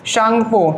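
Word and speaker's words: Tsangpo: इसका full form लिख लीजिएगा, कई बार पूछा गया एग्जाम में, इंडो शांगपो, टी साइलेंट होता है, शांगपो सचर जोन।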